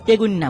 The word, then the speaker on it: তেগুনিয়া: একই জায়গার ঘটনা বলেছেন ওই জায়গাটার নাম হচ্ছে তেগুনিয়া উচ্চারণ তেগুন্না বলে আর কি তো ওই জায়গাটা বেশ